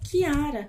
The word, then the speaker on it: Chiara: Então, sempre que depois do CH tiver um I ou um E, como você pode ver ali, você vai pronunciar esse CH como o som de K ou de Q, ok? Por isso que eu gosto tanto deste som, porque o meu nome, como é meu nome é Chiara, ok?